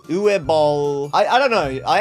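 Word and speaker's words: Uwe Boll: to be watching all six movies directed by U ball that's how you say it and they have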